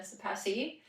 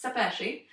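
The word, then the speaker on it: Szepesi: Did I say that right? Almost right. Okay. How Ollie, my partner, teaches everyone's sepesci. Oh. I'm not Italian, but That sounds Italian. But since then, everyone can say my name correctly because it's clear. When you talk in Italian accent, I guess you sound clear. So it's sepesci.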